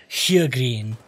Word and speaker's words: Sjögren: research it is pronounced H green h green there's an S at the beginning but apparently you don't pronounce the S news to me so